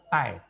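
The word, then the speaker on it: 太: Seperti ini kita bacanya adalah tai. Tai. Tidak ada suara aspirat sama sekali.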